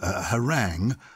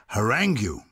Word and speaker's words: harangue: you at the end so we've adopted the French pronunciation which we don't always